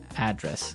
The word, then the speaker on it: address: And there the stress is on the first syllable address.